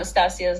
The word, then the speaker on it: Stasia: No, I funny enough don't know Stasia's last name. Stasia. Yes, Stasia.